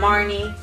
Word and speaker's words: Marnie: We got Marnie. Rhymes with Barney.